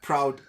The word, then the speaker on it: Proud: and somehow your names your name seems to rhyme with um the cloud like proud Cloud sort of the